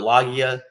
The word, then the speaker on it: Loggia: How do you pronounce Robert Loggia?